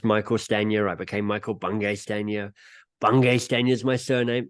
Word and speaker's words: Bungay Stanier: standier I became Michael bungay stania bungay Stan is my surname there's no hyphen people get weirded out on how to pronounce it it's like a good letter ones to Michael banging spaniel yeah so like people